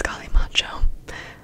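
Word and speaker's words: Kalimotxo: Okay, it's Kalimacho, but I think it's spelled Kalimatsu, but it's pronounced Kalimacho.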